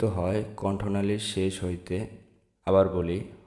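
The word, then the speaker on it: ب: তারপর আসি বা। দুই ঠোঁটের যে ভিজা অংশ, সেই ভিজা অংশ থেকে উচ্চারিত হবে বা, বা।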